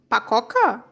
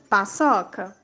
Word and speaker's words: paçoca: Sem o C cedilha, como ficaria a pronúncia das palavras? Leia. Acougue, carroca, fumaca, pacoca. Agora leia corretamente. Açougue, carroça, fumaça, paçoca.